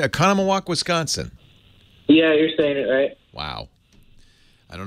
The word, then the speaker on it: Oconomowoc: Leo Laporte the tech guy 8888 ask Leo Oconomowoc Christian am I saying it right Oconomowoc Wisconsin yeah Wow I don't know where they